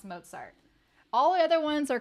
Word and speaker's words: Mozart: to know this too okay it is not mosart it is not Mozart do never say mosart